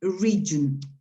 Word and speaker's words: region: This word is pronounced region.